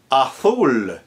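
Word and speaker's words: azul: So wherever a Z letter is in Castellian Spanish as in Madrid and the center of Spain, it will be pronounced tha.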